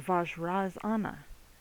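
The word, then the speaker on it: Vajrasana: So, vaj razanna is the correct pronunciation of the entire Sanskrit word.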